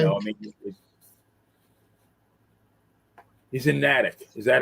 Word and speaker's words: Natick: I mean, he's in Natick. Is that how you pronounce it? Oh, he's in Natick.